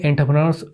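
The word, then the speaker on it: entrepreneur: Indian एंटरप्रेन्योर्स abroad, इसको एंटरप्रेन्योर pronounce किया जाता है, इंडियन एंटरप्रेन्योर्स अब्रोड।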